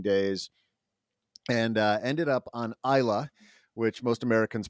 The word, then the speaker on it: Islay: And ended up on Islay, which most Americans pronounce Islay, but that's an island off the west coast